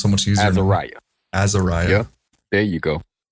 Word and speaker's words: AzariYAH: I've been saying long A, and I'm hoping I'm saying that right. So it's AzariYAH. AzariYAH. It sounds so much easier. AzariYAH.